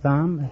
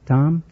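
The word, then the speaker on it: Thom: thumb Tom I'm Tom the H is silent now that's why I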